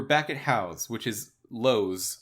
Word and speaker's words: Lowe's: For me, we were back at House, which is Lowe's. It's spelled the same way as the store Lowe's, like Home Depot Lowe's.